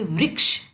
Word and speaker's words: वृक्ष: यह वृक्ष शब्द है इसमें ऋ की मात्रा लगी हुई है जो ऋ ऋषि की मात्रा होती है ना वो तो इसे हम बोलेंगे वृक्ष आपको इसका उच्चारण करना है वृक्ष यह वृक्ष है बड़ा